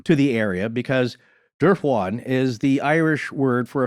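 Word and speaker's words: Dubhán: It looks like Dubhan. Yeah, Dubhan. But it's Irish Gaelic, a bunch of letters you don't pronounce. Yeah. So to me, it sounded like Durfwan.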